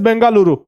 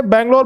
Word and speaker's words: बेंगलुरु: है ना स्पेलिंग पढ़ते बेंगलोर बेंगलोर अच्छा पता है पहले मतलब अंग्रेजों ने नाम बिगाड़ दिया था ओरिजिनल नाम तो उसका वही था बंगलुरु लेकिन अब नाम मिला बेंगलोर बेंगलोर बोल दिया उन्होंने है ना बेंगलर